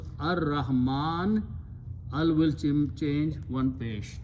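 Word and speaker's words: الرحمن: It will remove this sukoon here and pronounce ar-Rahman.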